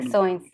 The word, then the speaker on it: Ficções: Fiction 2020 y Acervo de Ficções, ¿cómo se pronuncia? 2021. Ficções.